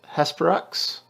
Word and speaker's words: Hesperax: takari more specifically uh lilith horospecs is it i can't i could never pronounce her name her sporax how would you present how would you pronounce that chris is it uh lelith yeah it is yeah lalith hesperax yeah they've um they've released